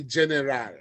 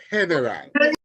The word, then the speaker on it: general: words come into play so don't go there and say General it's heneral don't go there and